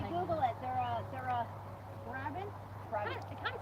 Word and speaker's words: Brabant: These are Brabant's Percheron crosses.